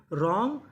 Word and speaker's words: wrong: Right, written, रॉन्ग, wrestler. तो rule क्या था? अगर आपको आर से पहले डब्ल्यू लिखा मिले तो हमें डब्ल्यू का उच्चारण नहीं करना।